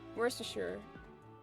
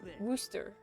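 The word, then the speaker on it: Worcester: Megan was saying how it's not pronounced worsture. It's called pronounced worooster in like the UK.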